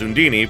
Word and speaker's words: Undine: the greater kramel of water undine and uh which in this game is pronounced sundini for reasons we um decided